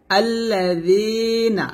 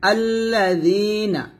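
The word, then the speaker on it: الذين: না লাগে নিচে লাগাই আমরা এই জালটা উচ্চারণ করি। তো অবশ্যই আপনাকে জিহ্বাটা উপরে দাঁত লাগাতে হবে, পাতলা করে লাগাতে হবে। আল্লাযীনা, নুন জবর না, আল্লাযীনা।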